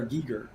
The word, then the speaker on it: Giger: It's pronounced HR Giger. But I always say Geiger because that's how I've said it for 30 years.